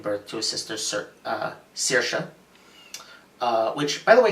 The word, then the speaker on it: Saoirse: to a sister sir saoirse which by the way thank you movie for teaching me how to pronounce that name which I've only ever seen written down it's Saoirse saoirse um they get I you